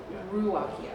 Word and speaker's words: Ruocchio: And but I also did it so I could spell it properly. How are you saying it? I'm just curious. Ruocchio.